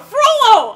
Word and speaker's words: Frollo: I think, not Frodo, Frollo! Okay. Jeez, Marty, you can never pronounce his name correctly.